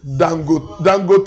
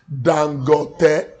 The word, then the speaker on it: Dangote: He said, some people wrongly call him Dangote, Dangote. He said, no. He said, the right pronunciation is Dangote.